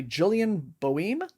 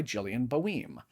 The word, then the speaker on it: Gillian Boehm: It's called The Stolen Kingdom by Gillian Boehm, I believe is the pronunciation. It says, nothing is quite as it seems in this thrilling YA fantasy adventure by Gillian Boehm.